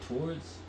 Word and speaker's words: towards: I like saying the word towards, because when I say towards, I pronounce it as towards, and it makes I really enunciate it, and I get that W, and it makes me feel classy.